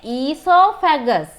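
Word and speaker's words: oesophagus: This is known as pute esophagus. So we are writing it O-E-S-O, right? O is silent. එතකොට කියවන්නේ esophagus නෙමෙයි, esophagus.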